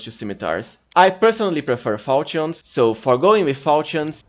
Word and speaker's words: falchion: You can go with either a Falchion if you don't care for spell combat. Yes, that's apparently the correct way of pronouncing it. I know I was saying Falcon before.